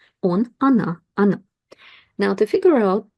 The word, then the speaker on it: она: You probably hear that I pronounce the sound a here because these letters o are unstressed. We pronounce them as a short a. Он, она, оно.